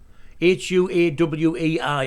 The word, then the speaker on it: Huawei: counts of fraud huawei h-u-a-w-e-i i think it's pronounced huawei but that's the way i